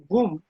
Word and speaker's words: GUM: Pronounced GUM, the initials GUM originally stood for the Russian words for State Departmental Store.